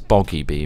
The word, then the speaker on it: Boggy B: could just try and Bobby be the bugger see I did that yeah know I had it it's boggy be mate but it's boggy yeah cuz we've been saying it wrong once time Bobby sounds